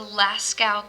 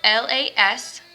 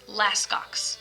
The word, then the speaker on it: Lascaux: cave is called the lascaux cave that's spelled l-a-s-c-a-u-x lascal cave it looks like it says laskox but it's lascaux and so that cave